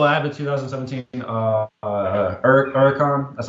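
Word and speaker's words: Huracán: um yeah so I have a 2017 uh uron that's how it's pronounced um and it's a spider so it's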